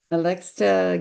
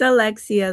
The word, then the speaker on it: Alexia: How about Alexa? Hello, And my tell me how to name pronounce your name. I'm sure I said it's it right, yeah, wrong. it's Alexia. The T is silent.